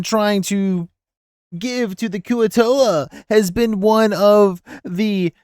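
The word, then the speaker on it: Kuo-toa: Koyatoa! Dr. Kirby, I feel like you should know that it's pronounced Kuatoa.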